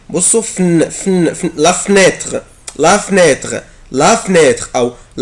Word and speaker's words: fenêtre: عندي fenêtre اللي هو الشباك، ممكن انطقها كده la fenêtre. بصوا fenêtre la fenêtre la fenêtre يعني لا لتر او اللي بعد الاف ممكن انطقه ممكن ما انطقوش، ممكن ما انطقوش والزق الاف في الان.